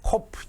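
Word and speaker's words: ק: 코프. 영어 꼭 P처럼 생겼죠. 코프. 키읔이고요. 음가는 키읔이고 잠깐 카프도 키읔이었죠. 비슷한 발음이 납니다. 카프에 점이 있는 경우와 코프하고는 발음이 같습니다.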